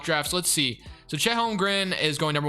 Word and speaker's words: Holmgren: I used to say Holmgren, but it's Chet Holmgren. So that is who I want, and I gotta make sure. Looking at the mock drafts, let's see. So Chet Holmgren is going number 1 to the Warriors.